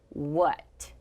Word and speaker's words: what: as we would expect the tricky letter is a and is pronounced as uh the letter does not make the sound that we would expect so this word is what what is your name